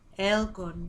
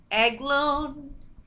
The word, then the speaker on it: Eglun: Elgun, genius of lightning. Elgun. I'm saying it wrong. Eglun, Eglun, Eglun.